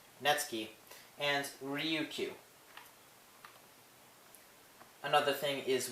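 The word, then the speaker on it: netsuke: include suji shiki netsuki yes the n-e-t-s-u-k-e is pronounced natsuki and ryukyu another thing is with the a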